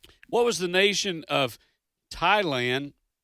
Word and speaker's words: Thailand: was the nation of Thailand with that uh with that uh silent h which was the the